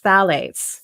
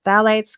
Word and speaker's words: phthalates: next one i'm going to talk about is phthalates it's spelled p h t h a l a